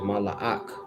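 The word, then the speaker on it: מלאך: A ma, Allah, and a ah, and a ka. But you will pronounce it mala'ak.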